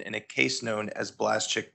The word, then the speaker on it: Blaszczak: in this space including how to pronounce blaschik you may know it as blazak and today we're going